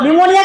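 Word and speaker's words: pneumonia: निमोनिया का spelling लिखिए। पी एन ई यू एम ओ एन आई ए हां। इसमें पी साइलेंट है।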